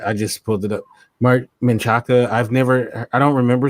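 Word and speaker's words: Marc Menchaca: Jack Hoskins this guy is killing it yes mark min Chaka is how you say his name uh yeah I just pulled it up mark menchaca I've never I don't remember seeing this actor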